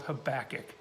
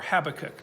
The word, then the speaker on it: Habakkuk: It's a little book in the back of the Old Testament called Habakkuk, or Habakkuk, depending on where you went to school. Pronunciation's not important.